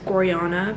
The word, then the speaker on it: Gorjana: like the mall nearby if you've never heard of gorjana i think it's pronounced goriana but whatever um but